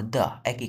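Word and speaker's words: 得: ওটা ছিল ভার্বের পর দই ক্যারেক্টার আমাদের এটা যখন সাবজেক্টের পর বসবে তখন এটার উচ্চারণার দ থাকবে না এটা হয়ে যাবে দেই দেই যেমন আমাকে ফিরে যেতে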